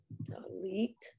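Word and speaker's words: tallit: Talit. Talit. What's talit? Talit. Talis.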